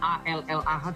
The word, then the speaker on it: Allah: Karena memang dalam penggunaan kosakata bahasa Indonesia double L, A L L A H tetap dibacanya Allah.